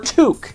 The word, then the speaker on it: toque: So the way to say Sooke is it rhymes with Duke, right? So Duke, Sooke, or Toque if you live in Canada.